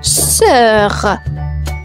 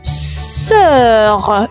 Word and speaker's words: sœur: On enchaîne avec le mot sœur, sœur, une sœur. Et la sœur s'écrit comme suite S-O-E-U-R. La particularité, le O et le E vont fusionner ensemble comme cœur, sœur.